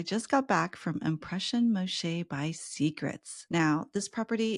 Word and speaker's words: Moxché: actually asked around and it's actually the Mayan pronunciation do you remember Miguel when we tried to ask you like how do you pronounce this so it is Moshe but some people do